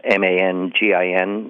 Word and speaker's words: Mangin: named Joseph Francois Mangin, M-A-N-G-I-N, now pronounced locally Mangin.